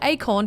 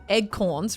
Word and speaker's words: acorn: people pronounce the word acorn despite the fact that there's neither an e or a g in the word people say egg corns rather than acorn i